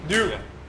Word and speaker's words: Ryu: It's one syllable. That's yeah. The trick. It's just make it one syllable. Ryu. Yeah. Like Kyle.